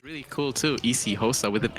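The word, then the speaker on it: isiXhosa: but I don't know like I know it's pronounced easy HOSA but I don't know what kind of language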